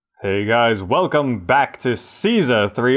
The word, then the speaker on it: Caesar: guys welcome back to Caesar 3 or some people people pronounce it Kaiser Kaiser 3 anyway if